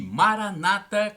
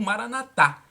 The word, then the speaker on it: Maranatha: acredite creia o e maranata como dizem os pertences protestantes com a tônica na penúltima sílaba ou maranatha como dizem os católicos com a tônica na última sílaba significa fim de senhor